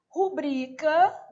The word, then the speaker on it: rubrica: Rubrica, sílaba tônica é o pri.